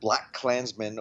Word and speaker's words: BLACKkKLANSMAN: words, but of course the way the movie is actually titled, it's sort of one word, BLACKkKLANSMAN, or maybe if you pronounce it literally the way it's spelled, BLACKkKLANSMAN, because in between the black and the Klansman there's an extra K, so we get KKK, because that's the kind of Klan we're talking about here.